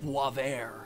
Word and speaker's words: Boisvert: underscore Boisvert, or as I believe it's actually pronounced, Boisvert.